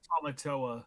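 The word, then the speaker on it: Tamatoa: Tomatoa.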